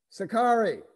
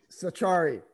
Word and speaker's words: Sachari: Sakari. Here. It's Sachari. Sachari. Char-E, okay, I phonetically pronounced it.